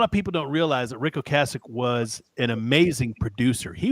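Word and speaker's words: Ric Ocasek: Rick O Cassich produced a couple of albums of this band. And a lot of people don't realize that Ricko Cassich was an amazing producer.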